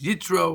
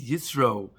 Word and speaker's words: Yisro: This week we want to look at Parshas Yisro, Parshas Yitro, whatever we want to pronounce it. And really, why is Yisro being singled out to be named his own Parsha?